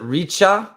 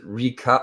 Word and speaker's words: Ricca: ricci's in uh reach is it richa is it pronounced in italian or is it rica i think it's richa rita i would ask